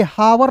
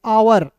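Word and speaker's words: hour: हावर नहीं पढ़ेंगे। आवर। एच ओ यू आर को क्या पढ़ेंगे? आवर। आवर ओ यू आर को पढ़ेंगे आवर एच को साइलेंट करेंगे समझ गए फिर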